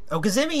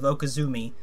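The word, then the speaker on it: okizeme: Okazemi is the proper Okay, pronunciation, yeah.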